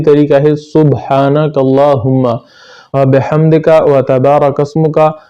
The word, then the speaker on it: وتبارک: ہے سبحانک اللہم وبحمدک وتبارک اسمک۔ لوگ اکثر اس کو وتبارک اسمک پڑھتے ہیں جس کی وجہ سے تا پر شد آ جاتا ہے، حالانکہ یہ وتبارک اسمک ہے، تا کو ہلکا سا